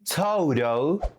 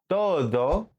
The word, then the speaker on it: todo: This letter is not an English D or R. If you say todo instead of todo, that's why people can notice you are struggling with pronunciation. And also, you're saying a completely different word.